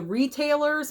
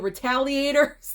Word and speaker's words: Retaliators: title of this because you want to say the retailers but it's not it's the retaliators there we go I always always almost make that mistake every single time so the retaliators yet yet again another